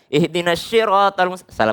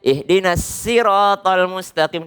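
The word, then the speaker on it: اهدنا الصراط المستقيم: ke saja dijaga lagi yang baca siroto atau ihdinash fatal mustaqim keliru Salah besar ihdinashirotolmustakim besar mending bacanya ihdinas sirotol mustaqim dibandingkan ini nasi ya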